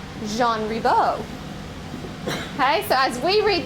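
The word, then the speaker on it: Jean Ribault: So when we say gene rebal when we see it on signs and when we see it uh the school listed but the actual French pronunciation is Jean Rebo.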